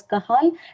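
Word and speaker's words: Cajal: Yes, I'm calling it as kahal because it's a Spanish name.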